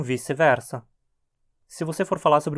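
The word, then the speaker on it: vice versa: tradição já vai só muito estranho você chegar e dizer wik wersa no meio de uma fala em português né todo mundo tá acostumado com vice-versa se você for falar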